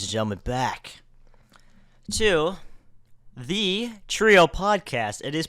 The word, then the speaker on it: Treeo: but welcome ladies and gentlemen back to the trio podcast it is pronounced the trio podcast you could say Trio